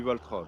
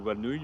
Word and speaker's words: Valtra: roule aussi avec du Valtra mais ça dépend des pas et pour une fois j'ai prononcé Valtra correctement parce que d'habit je dis plutôt valnouille mais j'avoue j'y reviens